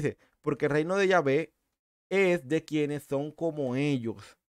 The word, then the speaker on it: Yahvé: Entonces, hasta donde tengo entendido, la mejor pronunciación para el término Yahweh, como uno cree que se dice, no es Yahweh, sino Yahvé, Yahvé, o sea, Yahvé.